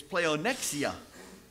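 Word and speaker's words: πλεονεξία: Now, that word is pleonexia. Pleonexia. And, you know, you can hear the difference in our English pronunciation of the Greek word.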